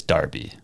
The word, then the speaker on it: Derby: And they said the line is when you start pronouncing Derby as Darby. I say Derby.